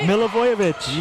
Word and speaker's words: Milivojevic: Milivojevic? Very good. Was that right? Milivojevic. Yes.